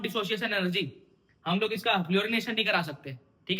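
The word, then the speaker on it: fluorination: फ्लोरोनेशन, अरे यार फ्लोरिनेशन, spelling देखना ना भाई ना, थोड़ी इंग्लिश मेरी ज्यादा अच्छी है।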